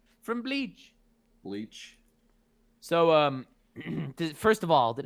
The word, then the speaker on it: Bleach: Next, we have the God Hand from Berserk, my favorite manga of all time, versus the Espada from Blech. Pardon the pronunciation. From Bleach. Bleach.